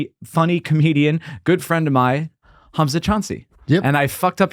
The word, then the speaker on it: Choudry: Yeah, but it's just like Cha. The D is the hard one because it's not a D. It's not. I mean, Choudry.